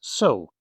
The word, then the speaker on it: そ: The sound is so, like sew a button.